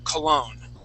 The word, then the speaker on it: cologne: So just like hotel, the accent goes at the end of the word. Cologne.